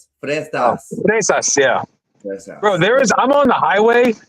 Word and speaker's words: fresas: Is it frescas? How do you say strawberries? Frescas, yeah. Fresas, yeah.